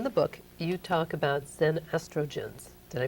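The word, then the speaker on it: xenoestrogens: now you in the book you talk about zen estrogens did i pronounce it right you pronounce it very well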